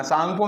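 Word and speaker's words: Tsangpo: जाता है है ना सांगपो में अ देखेंगे तो ऐसे लिखा होता है है ना इसका टी यहां प साइलेंट वर्ड है तो इस तरह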